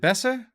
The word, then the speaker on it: besser: Besser? Is it besser? Because better is a German rooted word. It should be besser. I'm probably so mispronouncing that, but basically it's B-E-S-S-E-R.